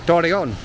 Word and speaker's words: Torreón: But regarding that, actually, the double R, I do feel like in this city, I'm not going to say it again, that not everyone pronounces it with that, you know. Sometimes you do hear it like just like Torreón.